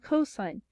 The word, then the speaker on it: cos: And that allows us two really important functions, sine and cosine. They're abbreviated SIN and COS, but they are pronounced sine and cosine.